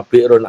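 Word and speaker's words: بئر: Kita nyebutnya selama ini miqatnya di bir bacanya bir brun ali tapi karena bahasa Arab ada hamzah yang disukun itu bacanya bir.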